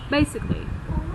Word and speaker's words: basically: Âm trọng âm đầu tiên ạ. Đúng rồi. Basically.